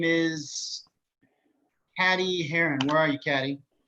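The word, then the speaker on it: Cady: Her name is Caddy Heron. Where are you, Caddy? Oh, that's me. It's pronounced like Katie.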